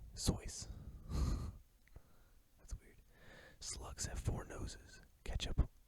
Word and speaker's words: Seuss: lipstick contains fish scales dr. Seuss pronounced his name sois slugs have four noses